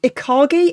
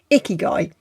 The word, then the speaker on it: ikigai: your icky guy and for some reason I kept reading that as ikagi and I have no idea what I was pronouncing it as ikagi because it doesn't even spell like ikaki icky guy I remember icky guy because it just makes